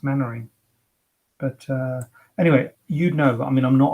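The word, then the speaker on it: Mainwaring: smell like that it's a bit like mannering isn't it main main wearing it's mannering but uh anyway you'd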